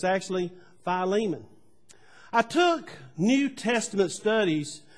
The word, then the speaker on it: Philemon: some of them are difficult to uh to pronounce uh some of the other people called it uh instead of philemon they call it philemon so that's what a lot of people grew up but it's actually philemon i took new testament studies at duke under